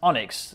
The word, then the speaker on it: ONNX: mmm now this week the onx pronounced onyx that is the open